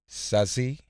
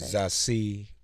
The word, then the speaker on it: Zazie: last name is German, but my first name is French. It's French. Mm-hmm. Zazie Bates. Zazie. Zazie. Yeah, that's Bates. perfect. That's perfect. Zazie Bates.